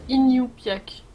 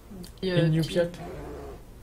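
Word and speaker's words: Iñupiaq: Simplement, ça se prononce Inupiaq. Inupiaq. Oui, parce qu'il y a un tréma sur le N.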